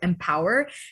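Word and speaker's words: EmpowHER: all virtual girls competition called empower it's spelled e-m-p-o-w-h-e-r so empower her keeping within the all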